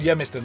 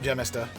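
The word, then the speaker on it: gemista: I think it's called Yamster, not Jistster. Oh, okay. Yamster. I don't think they pronounce the G like we do.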